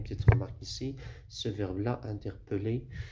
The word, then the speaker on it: interpeller: Mais faites attention, il y a une petite remarque ici, ce verbe-là, interpeller, il s'écrit avec deux L, mais il se prononce comme un seul L, j'interpelle, etc.